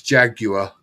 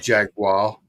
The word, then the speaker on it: Jaguar: Jaguar he guys it's Jaguar not Jaguar so how does MC Jagger pronounce his last name then well that's Jagger the Jaguar he's got a u in it Jaguar all right so